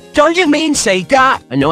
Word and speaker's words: Sega: So now, we will be sending those sound files we've recorded to Sita. Don't you mean Sega? I know how to spell it, Dino. Say Sega next time!